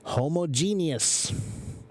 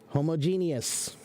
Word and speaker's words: homogeneous: the pronunciation of homogenius it implies the proper separation of the root words homo and Gina or